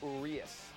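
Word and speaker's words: Urías: three KS 3 walks through 72 pitches Julio arias and that is the correct pronunciation I checked with Sierra Santos it's blue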